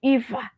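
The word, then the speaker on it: Aoife: because how do you how do you take a o i f e to be EA like where is the E and coming from it's just the way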